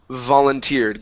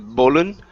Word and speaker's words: volunteer: Your last one here is volunteered. Give me a good V instead of bollen.